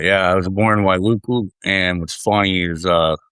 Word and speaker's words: Wailuku: And Paul, you're born in, again, if I fuck up any of these pronouncing these words, but you're born in Wailuku, Hawaii in 76? Wailuku, but yeah. Wailuku.